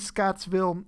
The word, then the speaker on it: Scottsville: you caught there was a sort of mispronunciation missing the middle s in this uh in this word so the answer is scottsville and here's where we